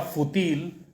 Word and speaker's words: fútil: La palabra fútil, con acento en la U, quiere decir de poca importancia, insignificante.